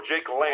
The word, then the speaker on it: Lang: Is it Jake Long or Jake Lang? Jake Lang.